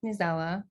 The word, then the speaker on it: Newsela: lead accessibility engineer um my role at nusella nizawa is how i pronounce it um my role at new zela